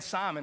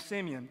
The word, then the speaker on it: Simeon: And as a matter of fact, I've been pronouncing his name wrong all week. Like, I've been saying Simon, and I was back there with Wes, and he was like, Simeon.